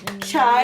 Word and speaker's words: Chai: And another incredible announcement is that Shadowhunters just introduced a new cast member, Chai Hansen. Yes. I'm saying it right. It's not Shy, it's Chai, right?